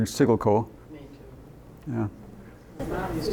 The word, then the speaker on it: Siggelkow: that sickle cow was, the correct pronunciation was Sigelco. So Gelco, it could be. I always heard Sigelco.